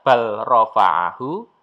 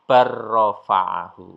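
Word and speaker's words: بل رفعه: Maka cara bacanya lamnya dihilangkan sehingga tidak bal rafa'ahu tetapi barrafa'ahu. Barrafa'ah. Barrafa'ah lamnya dihilangkan.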